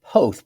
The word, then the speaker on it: Poth: It is said Poth, P-O-T-H.